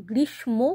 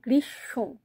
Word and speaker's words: গ্রীষ্ম: ময় গ্রীষ্ম এটা কিন্তু গ্রীষ্ম কখনোই নয় গ্রীস আমরা উচ্চারণটা যখন করছি তখন এই পেটকাটা মূর্ধন্য স টা তালুব্যস হয়ে যাচ্ছে আর তারপরে যে ম টা সেটা উচ্চারণ করছি না হচ্ছে তালব্যস ওকার মাথায়